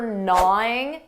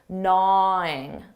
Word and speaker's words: gnawing: Notice that pronunciation for gnawing. That g is silent. Gnawing.